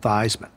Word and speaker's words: Theismann: last name I said he said no no your last name is pronounced Theisman I said no no my last name is pronounced these man he's no Joe your last name is pronounced Theisman he said Joe I want to tell you something there's a trophy out there called the Heisman Trophy because best college football